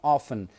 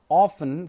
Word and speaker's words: often: This word often can be pronounced as often and also as often. Some people pronounce it as often, and some other people pronounce this word as often. So you can say often, you can say often. That's going to be no problem.